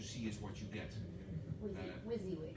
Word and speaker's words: WYSIWYG: is abbreviated, and I don't know how you pronounce it, but when you see what you see is what you get. WYSIWYG. WYSIWYG, okay.